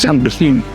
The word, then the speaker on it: Saint-Domingue: I think your pronunciation correct. It's Saint-Domingue.